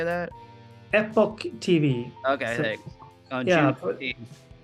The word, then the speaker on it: EpochTV: And then it's going to be on, I hope I pronounce this right, EpochTV. Is that, how do you say that? EpochTV.